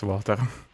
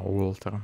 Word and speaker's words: Walter: Тут хотя бы понятно, что случилось с Валтером. Или Волтером. А, Уолтером вообще. Правильно читается.